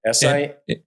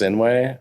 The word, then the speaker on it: Sinuhe: No, it's not HUE. It's not? You just blew it. You guys know me for 15 years. Blew it. It's not H. No. Sinuhe. SINUHEXAVIER. Sinuhe. Sinuhe. It's pronounced Sinuhe.